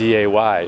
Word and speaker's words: Gooday: But it's spelled Gooday. It's Goo Day. That definitely says Goo Day.